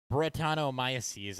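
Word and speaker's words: Brettanomyces: pineapple brent cezanne uh brett comes from bretano maya sees i think is how you say it but basically it's a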